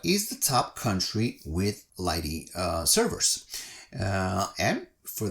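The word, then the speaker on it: lighttpd: about lighting okay so you write it the way I've written it but you pronounce it uh Lighty or that's how it's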